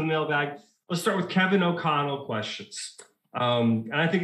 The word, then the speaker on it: O'Connell: one syllable three letters o'connell the accent's on the second syllable but you can't omit the o so yeah [ __